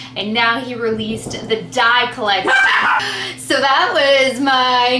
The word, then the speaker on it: Deye: So they released the Dye collection, but it's spelled D-E-Y-E, and it is a limited edition palette, where the other ones I think are all staple palettes.